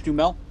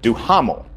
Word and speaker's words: Duhamel: I'm from the South, so I pronounce it Duhamel.